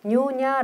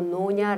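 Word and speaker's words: nyonya: 해요 그래서 조금 아까도 뉴오냐 라기도 하고 노냐 라기도 하는데 발음들은 어느 지역에서 말하느냐에서 조금씩 달라질 수가 있어요 캐봐야는 테라나칸 여성의 대표적인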